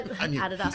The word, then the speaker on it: Adidas: enemy but why because I adopt but I Adas that's how you say it I'm a Nike